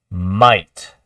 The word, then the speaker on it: might: next one is what might might might is a lot like thought you see how that G HT at the end says T just that a i it's almost like the ght is silent there are a lot